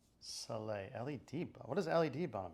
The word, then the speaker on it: Soleil: Also, it's Soleil.